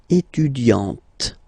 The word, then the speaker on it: étudiante: Okay, but then for the feminine form, elle est étudiante. Okay, t, t, t. Okay, you don't really insist on the e, but you insist quite much on the t.